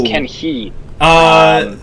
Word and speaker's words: Kenji: As you mentioned, Kenji still up in 9th place. And as well, that's another name I've been told I'm mispronouncing. I believe the J is silent. That is Ken He.